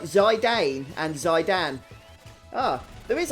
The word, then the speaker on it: Zidane: I pronounce his name as Zidane. Is there another way of pronouncing his name? I've always called him Zidane. I guess you could, now that I look at it, call him Zidane or something. Maybe some of you do that, but I've always said Zidane. Possibly because of the French footballer.